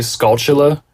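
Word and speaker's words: Skulltula: of that spider uh I say SCA see I say that too I think it's supposed to be scula on the pattern of tarantula right okay that makes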